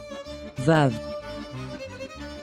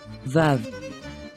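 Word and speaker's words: וָו: ah so of the andana tells us to pronounce tha and vaplasavi forms the sound vav vav vav that is the hebrew word for hook and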